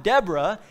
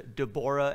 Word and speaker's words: Deborah: By the way, this is probably something closer to Deborah and Barak. But I'll just use the American pronunciation that I was raised with and say Deborah and Barak.